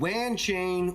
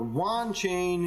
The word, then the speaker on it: Wanchain: gonna be talking about ranching or Wan chain it all depends on how you want to pronounce it I spoke with Shawn